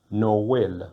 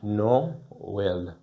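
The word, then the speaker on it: Noël: No well. So you find that the vowels are pronounced separately. No well.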